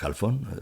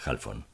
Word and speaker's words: Halfón: aula tiene un minuto halfón me dijo pronunciando mi apellido de una manera muy peculiar como si éste tuviera acento en ambas sílabas o algo así le dije que por